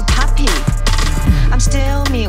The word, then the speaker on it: Papi: P-A-P-I 发音还是 puppy。